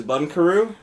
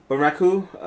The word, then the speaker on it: Bunraku: Alrighty, the Netflix Gem of the Week is Bunkaroo. Is what? Am I pronouncing that right? Bunraku.